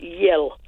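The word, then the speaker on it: iel: introduced a new word, I-E-L, pronounced yell.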